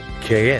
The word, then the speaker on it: qué: So we have ¿Qué es esto? For what is this? Okay. And ¿Qué es eso? For what is that? It's almost like what's that, but with a K sound at the beginning.